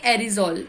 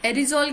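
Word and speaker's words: aerosol: अब बात करेंगे एरिजॉल। एरिजॉल क्या होता है, एरोजॉल, sorry, it pronounced एरोजॉल।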